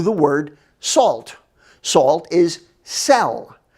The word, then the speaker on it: sel: word salt salt is cell it sounds like you're going to sell something or a prisoner in